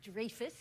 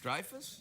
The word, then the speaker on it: Dreyfus: name Julia Louie Dreyfus it's not Dreyfus where is it the Dreyfus Dreyfus yeah like drive a car but Dreyfus Oh Dreyfus really welcome